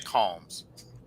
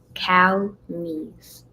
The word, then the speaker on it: Calmes: Don't worry, I don't pronounce your last name right because I always say calms. So it's is cal like calmese.